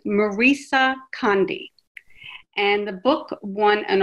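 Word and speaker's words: Maryse Condé: um the author and i looked up how to say her name because it didn't quite sound look like i should say it that way is marisa conde and the book won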